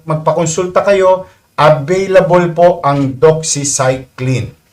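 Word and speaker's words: doxycycline: Doxyilin. Tama ba ang pronouncing? Doxyclin daw po.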